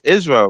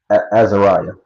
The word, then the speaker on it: Azeriah: Um, how you how you say it's Israel, right? Israel. Azeriah, my first name.